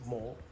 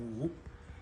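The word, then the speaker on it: 武: In Cantonese, they pronounce it mo. And then in Mandarin, we call it wu.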